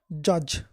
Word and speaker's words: judge: look money Korean active began a silent d judge j-u-d-g-e what kind of dear future blind man